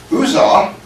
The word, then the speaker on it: Uzzah: Uzzah and Achiel, that's the way to pronounce it.